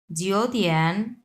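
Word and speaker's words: 九点: এই দুটাই যেহেতু 3 নাম্বার টন, সো এই জিও এটা আমরা 2 নাম্বার টন উচ্চারণ করব। সো জিও তিয়ান, সি, সিটা হচ্ছে 4 নাম্বার টন, সি হচ্ছে 2 নাম্বার টন।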